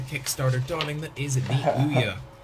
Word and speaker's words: Ouya: darling that is the Ouya. Pronounced ooh as in, ooh that's quite a tiny console, and yeah as in, yeah I agree.